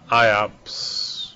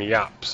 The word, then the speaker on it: Iop: like I always call iops you know iops and but they pronounce them yops which I knew that like I knew that um like in French they call them yops and not iops and even in English